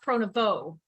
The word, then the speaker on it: Pronovost: My real last name is Pronovost, and it's spelled Pronovost. It's a very long, difficult name to spell, and it's pronounced Pronovost, so the ST is silent.